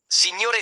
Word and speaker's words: signore: Signore, signore, sir. An important feature of Italian pronunciation is the distinction between single consonants and double consonants, called consonanti doppie or consonanti geminate.